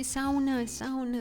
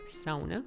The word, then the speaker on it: sauna: That's Finnish word if you pronounce it in the Finnish style, sauna, not sauna like in English.